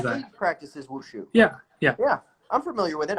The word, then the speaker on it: Wushu: Mushu. Yes, almost, but with a W in front of instead of an M. Wushu. Like the little dragon from Mulan, but if you've seen